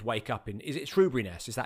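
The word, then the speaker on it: Shoeburyness: Is it Shrewbriness? Is that how you say it? Shrewbriness. Shrewbriness, yeah, Shoe. Shrewbriness. As in the foot covering. Berry, or the pastry.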